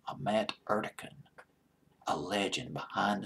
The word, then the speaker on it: Ahmet: Ahmet, I believe that's how you pronounce his name, Ahmet Ertegun, a legend behind the scenes, president of